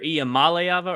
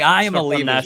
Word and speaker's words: Iamaleava: Iamaleava, because that's how you would sound it out if you were just going syllables at a time.